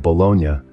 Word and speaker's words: bologna: reflecting its Italian Roots pronunciation can also be a point of confusion in the US the pronunciation of Bonia differs from the Italian city and has even spawned the slang term balone synonymous with nonsense as for health considerations